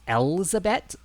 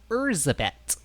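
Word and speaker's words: Erzsébet: when I was younger, I thought it was Elizabeth because of the way people pronounce it, but apparently it's Erzabet, which I don't think either of those are a name, but I feel like Elizabeth with an L sounds more like a name than Erzabet.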